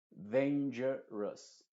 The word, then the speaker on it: dangerous: pronunciando como una sha se diría dangerous dangerous no se dice dangerous o dangerous porque la o es muda y la u está pronunciándose como una sha cous cu Us No